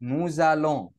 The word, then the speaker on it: nous allons: خدوا بالكم هنا إن الإس لما بتيجي بين حرفين متحركين يا شباب بننطقها زد، فهتبقى ايه؟ نوزالون.